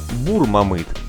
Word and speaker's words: Бермамыт: версии например жители окрестностей Говорят что на самом деле название нужно произносить как бур мамы что значит кудрявый Дело в том что